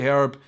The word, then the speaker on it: herb: But of course, in America, you guys do not say herb. You do not pronounce the H You pronounce it herb.